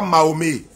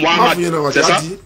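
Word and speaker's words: Mohammed: il s'appelle comment il s'appelle Mohammad c'est pas mahomé il s'appelle Mohamed ok d'accord VO alors que alors que vous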